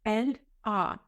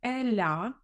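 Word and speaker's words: elle a: тому дієслово називається неправиль Зверніть увагу що треба вимовляти Еля не розривайте не говоріть Ель А треба казати все разом Еля повторіть Еля далі очі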